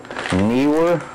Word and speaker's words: Neewer: Neewer, I think that's how you pronounce it.